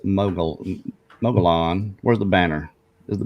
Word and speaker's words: Mogollon: gone and subscribed to mo Yeon monster it's pronounced mogul Mogollon where's the banner is the banner here okay